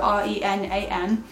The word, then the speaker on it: Renan: And she spells it like this, so R-E-N-A-N. And you pronounce it Renan, but he gets called Ren for short.